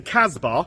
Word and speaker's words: Cask: So, you know, rock the Cask Bar. Cask Bar. That's how you say it. Obviously, being a southerner, you know, I say cask. Like, normal people should. But no, Cask Bar.